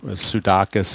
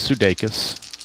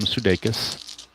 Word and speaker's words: Sudakis: some confusion a while back of how to pronounce his name, Sudakis and whatnot, but it is the actual pronunciation is Sudeikis. I verified it with YouTube and the baseball announcers, they call him Sudeikis.